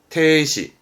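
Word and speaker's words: 停止: 멈추는 정지 발음은 테시, 테시.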